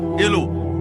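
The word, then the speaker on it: Alah: টেস্টামেন্টেও ঈশ্বরকে বলা হয়েছে এলো অথবা এলা। আর ইংরেজি বাইবেল যেটা রিভাইজ করেছেন রেফারেন্স কফিলড। তিনি এই শব্দটার বানান করেছেন এলা। সেখানে দিয়েছেন তিনি ইল। অথবা ইল এইচ অথবা এল এ। উচ্চারণ হবে এলা।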